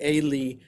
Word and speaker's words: Eli: Events that happen to Eli that also happen to, it's actually Eli, that's how it's pronounced in Hebrew.